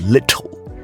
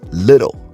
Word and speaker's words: little: Now remember, when it comes to the American accent, the two T's inside of little, it's not pronounced with a hard T sound. It's not little, it's little with a soft D sound.